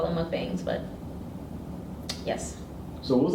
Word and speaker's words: mukbang: it's just pronunciation um because mukwang comes um from the Korean word well that is it's Korean it's mukbang um it's an eating show